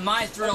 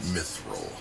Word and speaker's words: Mithril: I don't care what they call this, the My Thrill Lines. Not feeling the thrill. It's pronounced Mithril.